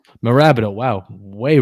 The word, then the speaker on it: Mirabito: Now you guys play in Mirabito Stadium. Did I pronounce that right? It's pronounced Marabito. Marabito.